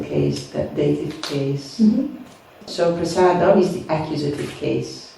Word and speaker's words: prasadam: right but for example most devotees say prasadam they're going to go and underpass Adam but it's supposed to be prasada it's already the objective